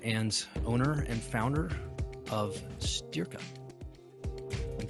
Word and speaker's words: Styrka: I'm a personal trainer and owner and founder of Styrka. And spell it? Styrka.